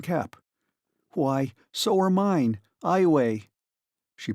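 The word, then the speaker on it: Iowa: Eyeway, she pronounced it eyeway.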